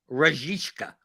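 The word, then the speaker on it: Rashica: get you to pronounce milos rajiska there's an sh in the middle yes he's from kosovo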